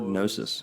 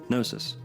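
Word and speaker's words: gnosis: some Freemasons actually equate the letter G to the word nosis, especially due to the fact that that G is silent, so to speak.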